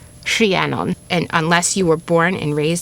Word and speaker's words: Rhiannon: And yes, it's Rhie. Rhie Rhie cuz of the r h. Rhiannon.